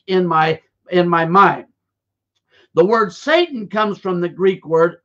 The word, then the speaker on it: Satan: origin, which is pronounced, which we say S-A-T-A-N, but it's actually pronounced in the Aramaic Satan. It's not even Satan like we say it in our English language or our English culture.